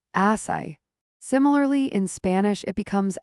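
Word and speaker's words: açaí: Derived from the Tupi guarani language indigenous to the Amazon basin, asai. Note the acute accent crucial to its pronunciation reveals its roots in the word asai, meaning the fruit that cries.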